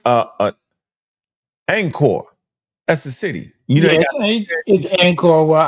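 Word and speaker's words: Angkor: Uh uh Anchor that's a city you know it's anchor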